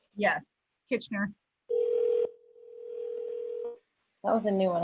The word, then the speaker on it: Kitchener: Kitchener? Yes, Kitchener.